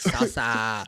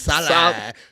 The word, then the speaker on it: Saleh: I feel like it's like Sasa. It's Salah. Salah.